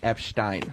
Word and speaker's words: Epstein: And also, for the record, it's pronounced Epstein.